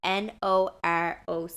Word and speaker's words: Noroc: And it is called Naroc. I believe I'm pronouncing that correctly. It's Noroc.